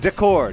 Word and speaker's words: d'accord: That's two syllables. D'accord. It's like of accord.